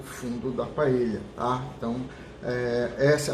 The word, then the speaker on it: paella: Se a gente levar em consideração que a origem é espanhola, a pronúncia seria paella, tá? Com a pronúncia do LH, quando tem encontro de dois L's.